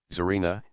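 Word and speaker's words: Tsarina: G VRT G G the combinations TS or TZ as inar Zarina Etc are pronounced like TS in its y has been used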